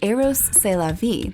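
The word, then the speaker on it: Rrose Sélavy: that he manifested an alter ego pronounced eros celavi which means aeros is life eros being the greek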